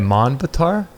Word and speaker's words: Manvantar: 71 cycles of 4 yugas result in a manvantar. It's a larger cycle. How do you say it? Manvantar? Manvantar.